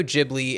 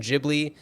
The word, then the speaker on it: Ghibli: feel like the studio jibli and by the way we are uh we have decided to go with the pronunciation jibli that is the way that Miyazaki pronounces it so we are going